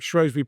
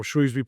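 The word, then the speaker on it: Shrewsbury: Then we operate Shrosby prison or Shrewsby prison depending on how you say it in in the I'm a Shrosbury. Yeah, it's it they always tell me it's whichever side of the river you come from.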